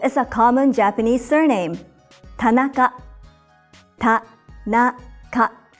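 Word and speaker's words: 田中: a common Japanese surname Tanaka pat now cut it's made up of three syllables Pat na cut each syllable consists of one consonant and one vowel another common surname in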